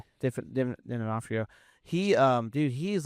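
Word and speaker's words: D'Onofrio: Definafrio.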